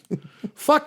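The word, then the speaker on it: Fuq: Shut the fuck of up. Asian descent, and it was not spelled F-U-C-K, it was F-U-Q. But I'm like, how do you pronounce it? Fuck.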